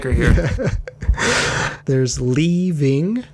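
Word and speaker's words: Lee Ving: like her here there's leaving i am pronouncing his name correctly it's leaving he is the blackmailer mr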